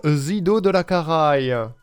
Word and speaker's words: Zidodelakaraye: Est-ce qu'on dit bien Zido de la Caraï? Ça va très bien passer.